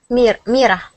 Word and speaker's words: Mira: Mira. Okay. So you hear that R? Mira. Okay. Mira. That R. Yeah. That R is the same way that we pronounce our D's.